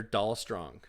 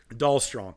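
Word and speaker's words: Dalstrong: their name wrong it they're doll strong doll strong so d l s r o n g I have dollr strong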